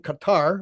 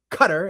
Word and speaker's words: Qatar: They're building a network that maintains ties to foreign foreign governments including Qatar, or Cutter, as which is the the ridiculous way to pronounce the name of that country.